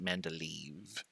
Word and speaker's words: Mendeleev: that mendeleev periodic table i always misspell mendeleev because it has two e's in it so i had to pronounce it men to leave all right here's what